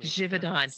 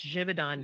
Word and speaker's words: Givaudan: can you help me jidon it's Swiss it's jivon jivon jidon flavors so